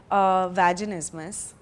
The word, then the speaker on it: vaginismus: conversation with a bunch of my friends about vaginismus. What is vaginismus? So how do you pronounce it?